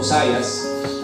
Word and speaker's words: Josiah: Ngayon po ang buhay po ni King Josaya o Hosayas. Ano bang tamang pronunciation para hosaya with Suli.